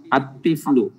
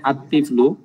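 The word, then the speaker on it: الطفل: আরো উদাহরণ তিফলুন যেমন আত্তিফলু দেখেন এখানে আত্তিফলু লামটা বাদ পড়ছে আলিফটা সরাসরি তকে ধরেছে বলুন আরজুলু আলিফটা র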